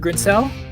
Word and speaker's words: Grinsell: Is that how you pronounce it, Grinsell?